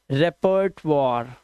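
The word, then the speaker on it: repertoire: रेपर्ट वॉर। रेपर्ट वॉर और last का ई silent.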